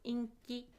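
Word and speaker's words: 인기: have popularity inky inky i think i mentioned it in a consonant assimilation lesson that it's pronounced inky would mean to be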